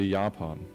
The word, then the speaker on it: Japan: say like and yeah in german you say yapon yeah it's it's the first syllable so yeah however it